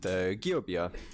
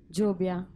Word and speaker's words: Giöbia: Welcome to Heavy Psych Sounds Festival here in Berlin, where I'm with Giöbia from Italy, or how do you say the band's name? Giöbia.